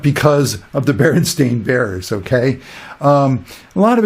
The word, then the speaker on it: Berenstain: Another one, like the Berenstain Bears, that's how it's said and spelled, Stain, S-T-A-I-N. It's a cartoon for kids, but the popular, normal way you would expect a word like that, a sort of a Jewish German word, would be S-T-E-I-N, Stein.